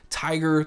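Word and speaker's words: Tygr: And the pair we're going to check out is the Beyerdynamic Tiger 300R. And Tiger is spelled T-Y-G-R.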